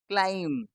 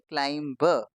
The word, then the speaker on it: climb: इसमें जो हमारा बी लेटर है वो क्या है, साइलेंट है, तो इसीलिए हम इसको क्या पढ़ते हैं, क्लाइम, ना कि क्लाइम्ब। क्लाइम्ब नहीं बोलना, क्या बोलना है इसको, क्लाइम।